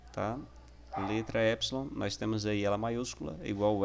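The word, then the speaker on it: ἔψιλον: você tem o sonho a pronúncia dela é o epson ele tem um som da pronúncia ele tem um som do é em fé por exemplo é é importante você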